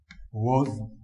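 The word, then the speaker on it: was: बोल रहे हैं देखो, जो अपना मोस्ट इंपोर्टेंट वर्ड है जिसको अपने रोंग बोलते हैं। ये देखो वॉज, ये देखिए।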